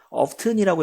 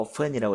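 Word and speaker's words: often: 수학 수업에 ofen 자주 oft이라고 읽어도 되고 off이라고 읽어도 됩니다 자주 올 수 없었습니다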